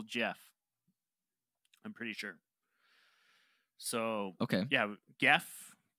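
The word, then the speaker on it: Gef: I think it's yeah, they spell it with a G, but the pronunciation is just normal Jeff.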